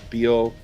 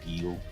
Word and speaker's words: bil: Is that bil that you said it comes from automobile? And so it's pronounced bil like we would pronounce bil, automobile, right?